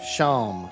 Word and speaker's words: Seam: The name Seam, pronounced Sham.